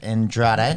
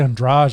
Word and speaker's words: Andrade: shivchenko takes on jessica andrade yeah andrade oh it's actually on draj i think is how you say yeah she comes up